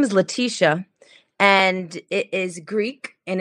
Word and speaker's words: Laticia: So in the Greek culture, it's spelled L-E, like Laticia. But my mother changed the E to the A, and it's Laticia.